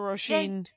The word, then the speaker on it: Roisin: follow her watch stuffen Rosen is an Irish name and so it's spelled it almost looks like raisin with an O uh r o i s i n right and um yeah